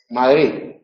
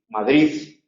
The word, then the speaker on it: Madrid: esta aldea se llama Madrid, ¿no? Pues la D del final está en posición implosiva, final de sílaba.